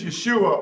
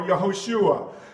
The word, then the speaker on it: Yeshua: shaah wahah okay friend his name is Yeshua or yahushua Zachariah 6: 11- 12 and you try to go like this this is your your uh twist twisted demonic Adolf Hitler logic Yeshua was a black man